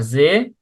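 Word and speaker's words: See: আর জে, জে মানে হলো সি, এস ই এ ইংলিশে, আর জার্মানে হলো এস ডাবল ই, উচ্চারণ হলো জে।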